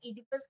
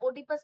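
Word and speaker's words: Oedipus: उन्होंने 2 इंस्टेंसेस दिया था, पहला था इडिपस कॉम्प्लेक्स। बस है, ओडिपस मत बोलना, बस है वो साइलेंट हो, कॉम्प्लेक्स आता, बस कॉम्प्लेक्स।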